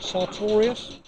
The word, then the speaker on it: Sartorius: So could you tell me what, am I saying it right, Sartorius?